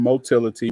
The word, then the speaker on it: motility: different ways the term motility which rhymes with Mobility refers to self movement